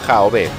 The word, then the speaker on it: Yahvé: Algunos mitólogos afirman que eligieron Jehová, porque de ese modo decían Señor. Otros estudiosos, sin embargo, consideran que la pronunciación verdadera era Jaové, porque la relacionaban con las siglas de su concepto ser.